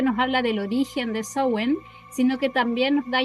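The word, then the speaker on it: Samhain: Y la última recomendación de libros que les traigo es Swen o Sam Hain, que se escribe Sen, una completa guía para la celebración de la festividad celta de Diana Rachel.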